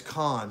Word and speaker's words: Con: It's not Coon, it's Con. C-O-N. C-O-N. Con Trucking. That's how you gotta pronounce it.